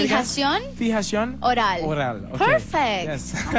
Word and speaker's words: Fijación Oral: Fijación Oral. I said it like Spanish 50 album? Times over there. Yeah, how do you say it again? Fijación Oral.